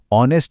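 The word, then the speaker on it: honest: दूसरी तरफ ऑनेस्ट शब्द एच से शुरू होता है जो एक कॉन्सोनेंट है। पर यहां एच साइलेंट है और आवाज ओ से शुरू होती है।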